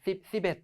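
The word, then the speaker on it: สิบเอ็ด: C하고 뱃으로 BT 10앳, 10앳, 10앳 하고 발음이 될 수도 있어요. 우리 한국인의 발음 특성상. 근데 음절 언어기도 하고 태국어는 10 하면 10이고 앳 하고 정확히 끊어서 발음해 주셔야 되기 때문에 말씀하실 때도 의도적으로 삐니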